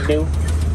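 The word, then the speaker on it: gnu: They're another type of you could also call them new. It's spelled G N U not ne.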